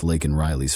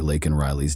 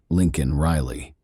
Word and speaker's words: Laken Riley: but did not downplay Laken Riley's death. To the thunderous cheers of his supporters, Biden mispronounced the victim's name during the speech, saying instead Lincoln Riley.